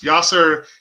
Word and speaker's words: Vyasar: Vyasar is there's a South Indian chant, a Tamil chant, that uses Vyasar instead of Vyas, because according to my dad, it's the formal way to pronounce Ved Vyas.